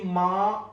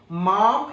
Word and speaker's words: माँ: പലപ്പോഴും മലയാളികള് അല്ലെങ്കിൽ മലയാളികൾ എന്നല്ല, സൗത്ത് ഇന്ത്യൻസ് എല്ലാവരും ഈ മാ എന്നുള്ളതിന് ഈ ചിഹ്നം കാണുമ്പോഴേക്കും മാം എന്ന് തെറ്റായിട്ട് പ്രൊനൗൺസ് ചെയ്യാറുണ്ട്. മാം എന്നല്ല പറയേണ്ടത്, മാ എന്ന് തന്നെയാണ്.